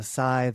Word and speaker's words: Scythe: Scythe is the English pronunciation. The British, it's more a soft th. Yes. Scythe. Oh, yes. So, sithe or scythe.